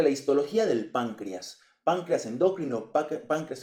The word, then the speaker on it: endócrino: la verdad es que yo toda la vida he estado acostumbrado a decir exócrino endócrino así que esa es la manera en que la voy a pronunciar en este video video Pues bien eh